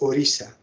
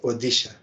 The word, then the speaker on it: Odisha: D odisha odisha but it should be pronounced as orisha not odisha orisha this R is